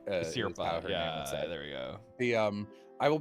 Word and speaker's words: Asirpa: main characters that don't kill anyone is obviously Asaripa, but I don't think Shiraishi has killed anyone. Sorry, I'm gonna mispronounce all these names, but yeah, Shiraishi is correct. Asirpa, Asirpa, there we go.